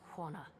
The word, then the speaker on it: Huana: Pronounced Huana.